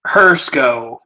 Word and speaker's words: Hrsko: enough to work okay actually do you pronounce it if you don't mind sharing Hearst go like to see is silent okay Haruko alright cool